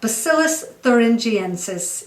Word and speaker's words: Bacillus thuringiensis: about it for many years but it's more bacillus thuringiensis uh so yeah bacillus thuringiensis is how you pronounce the full scientific name of this uh